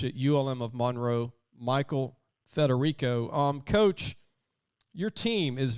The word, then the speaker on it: Federico: want to make sure i have your name pronounced so michael federico is that correct coach that's it correct we've